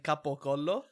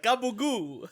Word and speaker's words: capocollo: collection of clips of them saying capocollo. Yeah. And they're like gabagoo. I'm like, that's not how you say it. That's real terrible. That's like, but that's the Sicilian way.